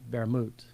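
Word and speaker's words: Wermut: point out is that the German word for wormwood is Vermouth, and that's spelled what with a W. Yeah. So, yeah, but it's pronounced Vermouth. Yeah, Vermouth. Vermouth. Like there's a, it's like Spanish with that BV. Like there's a, it's not Wermouth.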